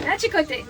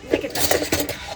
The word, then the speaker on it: Natchitoches: Because it says it's spelled Natchitoches or something like that. You're like Natchitoches. No, Natchitoches.